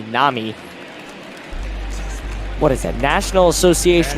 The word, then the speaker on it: NAMI: said the other day it's actually not Nai as I pronounced it in the last game it's actually Nami what is that National